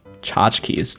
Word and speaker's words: tchotchkes: Tchotchkes. Tchotchkes is such a longer word than it seems, right? For 2 syllables. It's 10 letters.